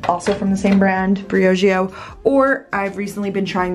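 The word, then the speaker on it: Briogeo: This is from, you guys told me how to pronounce it correctly, Brioggio.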